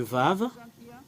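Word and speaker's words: וָו: l'écrire ici vav le vave voilà le vave c'est vav qu'on le prononce en ébreeux si on met quelque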